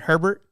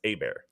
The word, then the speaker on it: Herbert: Oh, us A-Bear, so Justin Herbert? Yeah, you can't even get his name right. You lose points. You lose points there. Is how you would pronounce it in like French. It's A-Bear.